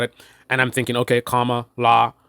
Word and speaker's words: Kamala: not that it's complicated right in itself right comma law right but again that's a very simplistic surface level thing where I now thinking about it having a discussion about it and I'm thinking okay comma law right but in terms of what pops out